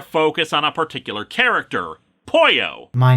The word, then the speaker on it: Poyo: character who's a chicken it's pronounced the same way but spell differently with a y instead of two l's like you gotcha wait